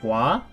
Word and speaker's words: は: wha you see here I wrote ha this is this is pronounced watashi wa even though it's not this wha we pronounce such as wah when we're practicing as a particle hope you remember this